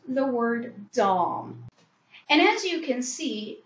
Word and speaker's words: Domme: It's Dom. And as you see, we've got the spelling flashing below us. But anyways, Dom, D-O-M-M-E equals Dom. It's not Domme or Dommy or any of those